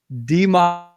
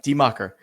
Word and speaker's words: Die Macher: You ready to talk a little bit about Die Macher? Said it right? Die Macher. That's right. Die Macher.